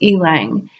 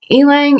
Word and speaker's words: ylang: people pronounce it differently I just pronounce it ailing because I know the way I can sound like an e and then we just have laying right there are various types but